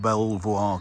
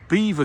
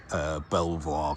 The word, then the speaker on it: Belvoir: We're at, for my American viewers, we're not at Belvoir Castle, we are at Beaver Castle, which is the pronunciation that you see there. Although obviously originally it was Belvoir Castle, which is, I believe, French for beautiful.